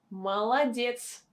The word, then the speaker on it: молодец: Next word is молодец. Молодец. Молодец. We don't say молодец. We say молодец. Молодец. We have a stress on the last syllable, and two O are not stressed.